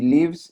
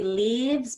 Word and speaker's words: lives: I will just let you know that when you said lives, you did a long E instead of a short I. So it's not he leaves, but he lives.